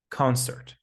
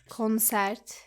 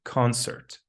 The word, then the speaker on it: concert: Do not pronounce it like concert. It's concert. Concert. Yes, it's an sound similar to bird, hurt, and skirt.